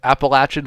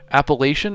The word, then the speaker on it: Appalachian: Appalachian uh Appalachin is the way the locals say it.